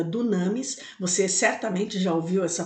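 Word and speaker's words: δύναμις: sobre ti o poder essa palavra poder em grego ela é pronunciada Dunamis você certamente Já ouviu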